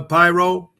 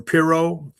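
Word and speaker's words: Pirro: Janine uh Pyro or Piro, that's how you pronounce her name.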